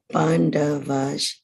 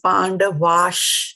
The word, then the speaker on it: पाण्डवाश्: So this one is Pandavash. There's a sh here. Pandavash Jaiva. Okay, good. Shruti Mataji? Dhritarashtra उवाच धर्मक्षेत्रे कुरुक्षेत्रे समवेतायुयुत्सवः मामकाः पाण्डवाश्चैव किम् अकुर्वत Sanjay. Yeah, good. Again, Pandavash.